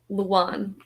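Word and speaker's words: Lewan: Luan.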